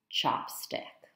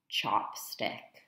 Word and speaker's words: chopstick: We can compare that pronunciation with palillo. Chopstick. Chopstick.